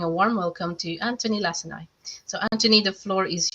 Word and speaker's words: Lacinai: warm welcome to Antoni Lacinai. So, Antoni, the floor is yours. Thank you so much. Thank you for pronouncing my name correctly as well. I have been called everything from lasagna to last night.